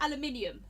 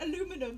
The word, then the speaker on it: aluminium: Aluminium. I'm British. Yeah. Or tinfoil. Yeah. Oh, thank you, Sparks. Thank you, Sparks. He spelled it the way I pronounce it. I know it's like aluminum, but I'm British.